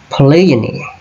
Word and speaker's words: polygyny: Ok, so the word is polygyny. Polygyny. Polygyny. Ok. Ok, chẳng biện này mình bởi mặt chiếng polygyny. Four syllable and stress fall on the second.